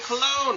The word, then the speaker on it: Colon: David Colon. How are you, sir? Did I pronounce that I'm correctly? doing good, man. Yeah, you pronounced it perfectly. You didn't call me Colin, so it's all good.